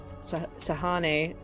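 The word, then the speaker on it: Sehanine: And is going to reach out to it and reach out to Sehane, as we discovered it's pronounced.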